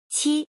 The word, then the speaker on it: 期: This word is pronounced as follow. 七.